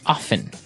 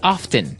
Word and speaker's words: often: people like to pronounce often right they kind of leave out the strong t sound well other people say often that's right both forms